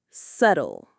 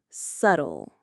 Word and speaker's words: subtle: Subtle. Excellent. The B is invisible to our mouths. Subtle.